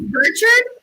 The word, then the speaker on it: Bouchard: I think it's Bouchard with an R. Bouchard. It's Burchard.